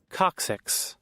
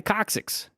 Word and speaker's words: coccyx: it coccyx coccyx what six one more time coccyx there you go thank you so much you know one more time coccyx okay so here we got the coccyx broken tailbone you don't want to snap this